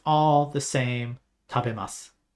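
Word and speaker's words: 食べます: What sounds off to you? For those of you that don't know, if you look at the characters on the screen, tabemasu, and you hear what I said, tabemasu, what sounds different? Yes, the U or the U is silent.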